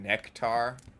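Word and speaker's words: Nektar: I've been listening to a lot of weird Prague rock and some Nectar. That's how you pronounce it.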